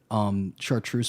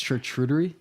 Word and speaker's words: charcuterie: thing I can't pronounce, chartreuse boards, and it wasn't on a board, it was just Chartreuse? it's charcuterie, I think.